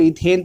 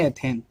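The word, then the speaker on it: ethane: कहीं ना कहीं इसको इथेन पढ़ते हैं, कहीं कहीं एथेन, मतलब हर किसी का पढ़ने का अलग अलग प्रोनाउंसिएशन होता है, उसमें कोई डाउट नहीं है।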